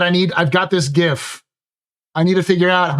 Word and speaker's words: GIF: But yes, uh I've joked that I need I've got this gif. I need to figure out how to uh get this gif and put and put uh Orrison platforms behind